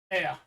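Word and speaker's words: aire: And there's the ordinary motorway, and the French call their toilets air, exactly as it's spelt, air.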